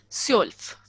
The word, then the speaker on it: zwölf: zwölf. Sorry? Zwölf. Can you? Zwölf. 12. Yeah, 12. yeah, zwölf. So it Okay. is OE is also like it is EO. OE. No. OE is EO. So EO. zwölf.